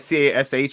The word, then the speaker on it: Kash: It's KASH. It's like a rapper name. Like if you were gonna say, oh yeah, I'm Cash Money. It's like you spell it with a K.